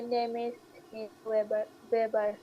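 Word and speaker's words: Name: করাই গুটে মরগেন মাই নেমবার মাই নামে এই নেম কেন বলেন সারা আপু সবসময় এ উচ্চারণ করে এটা আনা তাহলে কি হবে মাই নামে তাহলে মাই নাম নিনা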